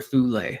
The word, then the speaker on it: Thule: And with Greenland, getting back to the occult connection, the mystical name for Greenland is Thule or Thule, however you want to pronounce it.